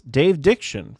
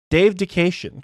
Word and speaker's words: Dave Dication: Dave Dication, who I've been pronouncing as Dave Diction for a year or two at this point. Why change now? Dave Dication, because I can actually